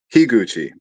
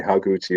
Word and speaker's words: Higuchi: I I get the first syllable of his last name wrong like every time which is why I'm trying. Shinji Hig Gucci. Okay. Sometimes I accidentally say haguchi or hey Gucci and it's like no that's not right.